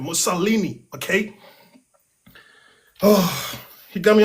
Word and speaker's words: Mussolini: Oh, how do you pronounce that dude's name? Mussolini, okay?